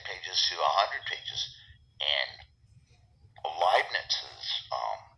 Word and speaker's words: Leibniz: It's a statement that could be anywhere from 5 or 10 pages to 100 pages, and Leibniz's Leibniz rhymes with Liebchen, which is like my love.